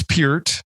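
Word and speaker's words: Peart: pert or pier to the great debate it's puret no doubt about it and if you're in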